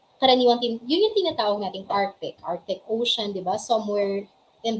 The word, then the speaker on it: Arctic: yun yung tinatawag nating Arctic Ocean, di ba? Somewhere in the north natin siya matatagpuan. And etong Arctic, medyo kasi hindi na po pronounce yung C sa Arctic.